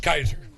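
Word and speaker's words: Kysar: And I got to know this young man who has himself an odd spelling of Kaiser. It's pronounced like Kaiser Hospital, but it's spelled K-Y-S-E-R.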